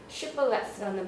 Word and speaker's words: Shibboleth: 사람들은 다 가려내서 죽이려고 shibboleth라는 발음을 해봐라고 했고 이제 그 에브라임 사람들은 SH 발음을 못했고 시블렛이라고 발음을 하게 된 거죠.